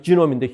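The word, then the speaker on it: genome: 그래서 어떤 사람 거 하나 그거 읽어본 거를 인간 게놈 프로젝트, 영어로는 이제 발음이 지놈인데 휴먼 지놈 프로젝트를 했다고 그래요.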